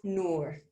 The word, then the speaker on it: Nour: you for asking nour so it's just like a two o's nor so a little bit less like door and a little bit bit more of a long o but i appreciate you